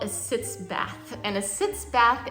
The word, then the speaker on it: sitz: a shallow bath actually sits it sounds like the word sits like you're sitting down but it's s-i-t-z it's a german word sits in and it actually means to sit here is a sitz